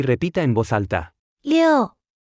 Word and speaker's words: 六: 六，六，六，六，六，六，六。 Se pronuncia con el cuarto tono.